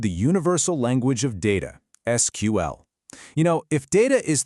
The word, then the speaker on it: SQL: You might hear some people call it SQL, but the official preferred pronunciation is just to say the letters SQL.